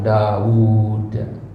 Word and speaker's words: Daud: ya Kenapa dikatakan begitu karena Daud itu wunya satu tapi dibacanya panjang Daud seolah-olah huruf wwya ada du ada dua jadi kata Daud ini wwnya ada du ada dua dalam penguca pengucapan tapi satu dalam penu penulisan Nah maka orang bilang